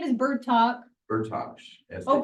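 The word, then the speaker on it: Bertoch: Bertosh. Oh, Bertosh, see? Bertosh.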